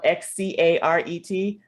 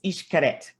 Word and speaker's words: Xcaret: So that's weird word that's spelled Xcaret. That is Xcaret.